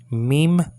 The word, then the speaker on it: mem: okay okay fine a US is M menu meem menu now you have the um it's spelled out like this there's an M here